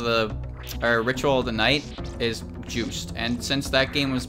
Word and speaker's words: Juste: by the way I thought his name was just but the way it's pronounced in curse of the ritual the knight is juiced and since that game was made by the